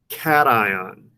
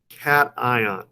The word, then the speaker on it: cation: this word is pronounced cation cation that's why i put a picture of my kitty in here to help you guys remember the pronunciation of it a cation